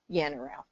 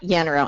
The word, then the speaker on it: Yannarell: 10, not quite 10 times how to properly pronounce his last name, and I already blanked it. Yannarell. I got it, Yannarell.